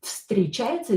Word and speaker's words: встречается: This встречается, this V will be pronounced as F because it is located near this S, which is unvoiced, so will become unvoiced too.